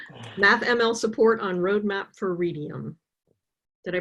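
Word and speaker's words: Readium: MathML support on roadmap for Redium. Did I pronounce that right?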